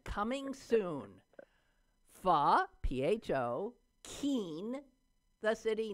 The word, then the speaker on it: pho: you have something called, well, I've always said pho, P-H-O. Oh, I do know this. Yeah? P-H-O, pho? It's pho. Pho, but it's pronounced it's pho.